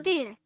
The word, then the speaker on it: per: Peer. Per. See, they say it like there'd be two e's there, and I don't like that.